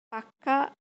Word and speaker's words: পাক্কা: যাই হোক, এই পাকা শব্দটিকে অনেক সময় পাক্কা বলে উচ্চারণ করা হয়। যখন আমরা পাক্কা বলছি, যেমন পাক্কা কথা, পাক্কা বাড়ি, এখানে পাকা শব্দটিকে জোর দেওয়ার জন্য বলা হয় পাক্কা।